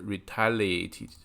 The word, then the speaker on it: retaliate: 重音在第二个音节上，第一个 re 是这个短的 retaliate re，然后这个